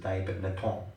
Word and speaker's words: Dai Nippon: That's how you pronounce it? Okay, Brahmananda pronounces it Dai Nippon.